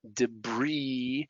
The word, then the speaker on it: debris: island isle isle i'll debris so the silent s the silent t lists